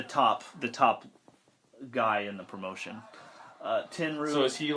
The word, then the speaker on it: Tenryu: Tenryu, is that how you say it?